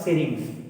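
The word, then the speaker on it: syrinx: है वो इसके मतलब इसका प्रोनाउंसिएशन इसके लिए सही, इसलिए बता रहा हूँ मैं, सिरिंग्स। कौन सा होगा? सिरिंग्स। मनुष्य में लैरिंक्स है, मनुष्य में ध्वनि उत्पादन अंग कौन सा है? लैरिंक्स, और पक्षियों में सिरिंग्स होता है, इसलिए बता रहा हूँ दोनों का प्रोनाउंसिएशन सेम है इसीलिए।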